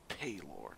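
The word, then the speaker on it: Pelor: shine upon it's poor I thought it was payor like the game when you create the character and you choose what God they worship has pronunciation guides for all of the Gods and it even says payor not poor but what the [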